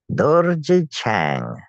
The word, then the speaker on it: Dorje Chang: There's the script in Tibetan, and it's pronounced Dorje Chang. Dorje Chang.